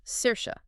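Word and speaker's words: Saoirse: And let's just remind everyone that beautiful name is pronounced Cersa.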